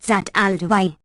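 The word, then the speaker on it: Zat al-Dawahi: be seen amply deserved her name which is pronounced zataldi FN number 164 Arab confused equals Hedgehog or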